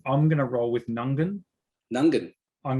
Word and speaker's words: Mount Nungan: going to roll with nungan nungan i'm going to say this the first g so ng that g is silent i i think it's nungan nungan okay mount nungan lookout